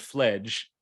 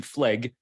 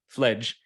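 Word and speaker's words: Fleg: poet and essayist Edmund fledge spelled f-l-e-g but pronounced with a soft G not Evan flag fledge who actually uh was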